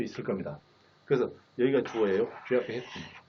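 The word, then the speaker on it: Geoff Hinton: 그 제프 히튼 하면 안 되고 제프 히튼, 혀를 떼지 않은 채 합니다.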